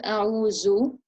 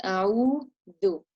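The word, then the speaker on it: أعوذ: So like in the word a'udhu, it's not a'uzu, it's a'udhu.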